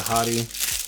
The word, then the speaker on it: Hati: reviews that I've seen they call it the hottie even though it's spelled exactly like Haiti the country so I don't really